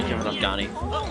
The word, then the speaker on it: Afghani: I will say this, it's really weird hearing Kevin Afghani. I am pronouncing his name right, Afghani? Yeah, Kevin Afghani.